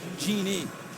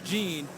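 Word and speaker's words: Jeanne: that'd be his mom jean trubisky who is spelled and it's spelled g-j-e-a-n-n-e and she said people often call her genie but she wants jean and she said i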